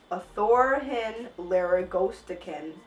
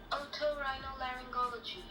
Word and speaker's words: Otorhinolaryngology: This is how you say it. Otorhinolaryngology.